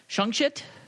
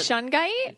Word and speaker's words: shungite: So I have shungshit. Shungshit. How do you spell that? I remember I haven't had problems with the feng shit. Yeah. You spell it shungite. Shungite.